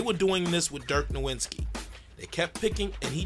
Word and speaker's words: Nowitzki: got Derrick Rose guarding Dirk Nowitzki no Vince key whichever you want to pronounce it Dirk and it's like